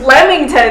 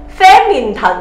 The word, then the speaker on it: Flemington: obviously it's got flemington after learning english you know for a good couple of years i realized f-l-e and you know being able to pronounce at flemington but before that my parents would say fair mean i always say